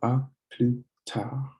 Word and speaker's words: à plus tard: With this accent mark above the A, it's pronounced ah. And then when you use this word, you don't pronounce the S, so it's plus. So ah, plus, and then tard. So ah, plus tard. Don't pronounce the D.